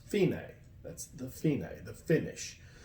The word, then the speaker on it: fine: DC all fina and it looks like the word fine right if I but that's the it's actually an Italian word for finish it's pronounced female that's the female the